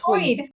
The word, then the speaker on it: Hoid: Hoyd? Oh, it's Hoid.